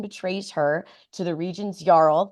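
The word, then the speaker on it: jarl: her to the Region's yarl which I hope is how you say that j a r l yl yl it's a yl okay good that's how I've been saying it in my head so thank God uh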